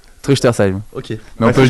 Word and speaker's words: Truchtersheim: Alors la prononciation déjà, comment ça se prononce ? Truchtersheim.